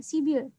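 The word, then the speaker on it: 십이: ini 11 itu adalah sipil, tetapi untuk membacanya itu disambung ya, sibil. Begitu juga dengan 12, sipi, bacanya adalah sibi.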